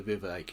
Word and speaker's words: Vivek: Yeah, what happened to Vivek? It rhymes with K.